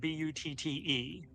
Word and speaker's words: butte: So how does one pronounce the word B-U-T-T-E in a geological sense?